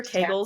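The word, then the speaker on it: Kegel: your kull yes everybody do your Keel or your Kel depending on how you want to pronounce them where you're from um but that that's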